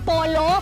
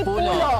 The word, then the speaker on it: Pulo: Kasi mahalata niyo kung hindi kayo taga dito, ang tawag ay polo or pulo pero ang tamang pronunciation ay pulo.